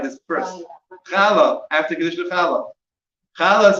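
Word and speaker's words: חלה: After Kiddush Challah. Challah is spelled 3 letters.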